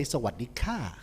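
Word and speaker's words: สวัสดีค่ะ: Sawadee krap is the right way to say it. If you're a girl, you say Sawadee ka.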